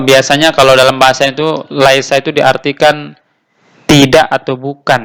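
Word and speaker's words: ليس: berhenti-berhenti ituu selanjutnya Laisa Ah ini dibacanya Laisa ini ya tapi mungkin hilang karena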